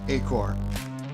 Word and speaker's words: Acoer: Yeah, we'll pronounce it Acoer. Acoer.